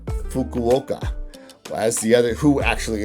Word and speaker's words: Fukuoka: always mess it up, but I believe it's pronounced Fukuoka, as the other, who actually ended up winning the whole thing.